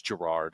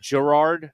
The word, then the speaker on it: Gerard: It's a soft G. It's Gerard. Gerard. Gerard.